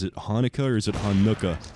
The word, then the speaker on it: Hanukkah: Like, what syllable are you supposed to enunciate? Is it Hanukkah or is it Hanukkah?